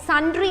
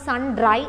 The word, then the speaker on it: sundry: drawn a column like sundry expense under expense means again the miscellaneous expenses so sundry expenses it's not sun dry it is sundry s-u-n-d-r-y you have to pronounce it as sundry expense miscellaneous expense itself